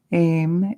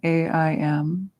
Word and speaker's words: Aim: We said one in the first mantra, Aim, A-I-M, like take aim.